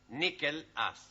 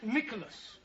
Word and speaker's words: Nicholas: Once upon a time, there was a man called Nickel Ass. That's not quite right. No? Once upon a time, there was a woman called Nickel Ass. It's pronounced Nicholas.